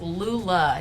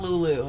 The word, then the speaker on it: Lula: except without an h yes Lula not Lulu it's a common deception um this is another